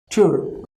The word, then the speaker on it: Tür: Tür. Tür means door. Okay, see here R we are pronouncing really less. We cannot say that R is silent here, but pronunciation of R will be really less.